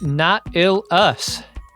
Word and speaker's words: Knotil: The game is pronounced not ill us, like the mollusk species Nautilus.